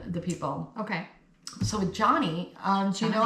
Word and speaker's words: Joni: No it's Johnny. So when I first saw this name, it's spelled J O N I. And I'm like, "Oh, Johnny. Johnny."